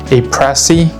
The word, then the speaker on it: A.Presse: Uh and it'll be my first piece from A Press. I'm pretty sure that's the American pronunciation.